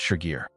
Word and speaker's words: Shigir: In the 1890s, diggers at Shigar found pieces of a tall wooden figure. Today we call it the Shigar idol, pronounced Shigir.